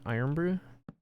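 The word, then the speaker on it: Irn-Bru: It's like iron, right? You pronounce that iron brew?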